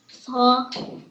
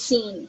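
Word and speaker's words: س: It's not sa. Sin. This is sa. This is seen. Yeah. Sin. Sa has seen 3 dots and it pronounced like fa, like like thank you. Fa with this 3 dots is fa, but this is seen.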